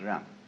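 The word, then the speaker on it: 仁: In Confucius philosophy, the fundamental virtue of a human being is called ren, spelled Jen for reasons best known to Chinese scholars. I don't know what they are, but it's pronounced ren.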